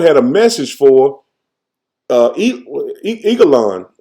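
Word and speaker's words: Eglon: a message for uh Eagle on I pronounce it Like an Eagle on and um so ehood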